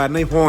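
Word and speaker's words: นายฮ้อย: แล้ว แต่ นะ ครับ สรุป คำ ว่า นาย ฮ้อย ใน ภาษา อีสาน ออกเสียง ว่า ใน ฮอย ครับ มี 2 ความ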